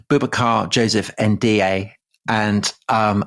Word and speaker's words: Ndiaye: man called Boubacar Joseph Ndiaye, and um I hope I pronounced that right. I may not have done. It's Ndiaye.